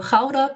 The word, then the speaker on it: Gouda: The best known one is Gouda, or Gouda, pronounced in Dutch.